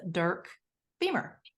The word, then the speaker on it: Dirk Beamer: us shortly but in the interim I have Dirk Beamer so I'm assuming I'm pronouncing that correctly um you got it right